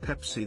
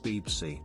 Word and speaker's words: Pepsi: For instance, instead of pronouncing it Pepsi they call it Beepsy.